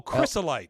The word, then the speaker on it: chrysolite: No, but CHRYSO. Oh, chrysolite.